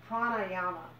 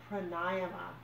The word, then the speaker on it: pranayama: Pearl of Wisdom number 2 is the Sanskrit word pranayama, which is classically mispronounced as pranayama, but it's actually pronounced pranayama.